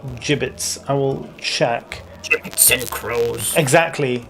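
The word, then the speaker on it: gibbets: Yeah, I'm pretty sure it's pronounced jibits. I will check. And crows. Exactly. Exactly. Um yeah, I'm pretty sure it is. Yeah, it's J as in jam. So it's jibbits.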